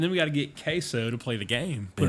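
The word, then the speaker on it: CaseOh: looked up queso and it's spelled C A S E O H. So it's not like queso like you're thinking of like the cheese like quo. It's queso or they just call him case.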